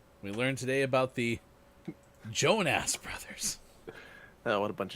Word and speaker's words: Jonas: Jonas. That's not his name. Jonas. Put some way too much emphasis on the first syllable and nowhere else to go.